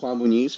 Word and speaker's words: Juan Muniz: And speaking of up to no good, today we have with us Hi, my name is Juan Bonise from straight from Las Vegas. Awesome. Thank you for pronouncing that because I did not want to mess it up.